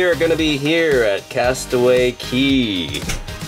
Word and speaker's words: Castaway Cay: Tomorrow we are gonna be here at Castaway Cay. I know it says K, but I guess they pronounce it Key.